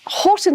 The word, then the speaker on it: Hoghton: So, I should say it's Horton Tower, but it's it's not spelled as you might expect it to to be spelled. No, it's spelled H O G H T O N.